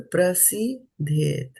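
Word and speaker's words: प्रसिद्ध्येत्: So don't try to jump from the second syllable into the third one quickly. Otherwise, from your impressions from other words, you will add a D over here.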